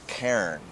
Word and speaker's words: cairn: People would call it like Cairns. It's one syllable, isn't it? It's supposed to be one syllable, you know, Cairn.